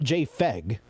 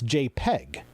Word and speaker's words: JPEG: stands for joint photographic experts group it's not j feg it's jpeg so pronouncing it the way it's pronounced in the